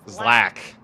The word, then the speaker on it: ZLAC: and bound number 50 is zlac from San Diego California oh pronounced Zack 52 bound number 52